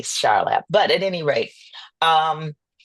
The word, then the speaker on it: Charlap: I could say, spiritually, it came to me, and I heard his name, and it's Charlap, not Char.